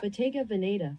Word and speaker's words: Bottega Veneta: This is the Bottega Veneta, which I realize I actually don't know how to pronounce. I should look it up. Bottega Veneta.